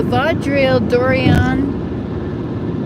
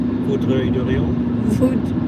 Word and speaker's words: Vaudreuil-Dorion: See now, the Vaudreuil Dorion is, how do you say that?